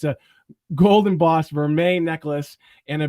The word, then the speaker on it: vermeil: now vermeil necklace now i had to ask natasha how to pronounce it because apparently it's french but it's a golden boss vermeer necklace and a b